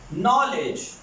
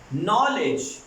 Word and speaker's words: knowledge: Students, जहां पे के के बाद N आता है जिन वर्ड्स में, उनमें के साइलेंट हो जाता है. और ये एग्जांपल हम यहां पे पुट करेंगे. For example, the word is नॉलेज, the word is नॉलेज and you are watching about knowledge. knowledge में के साइलेंट है और प्रॉपर N का साउंड प्रोड्यूस हो रहा है.